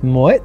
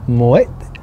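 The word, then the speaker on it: Moët: Finally, number 1, Moet and Chandon. Moet and Chandon. So you actually pronounce the T.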